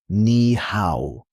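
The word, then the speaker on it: 你好: Pronounced nihow.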